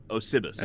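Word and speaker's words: Osybus: Osibus.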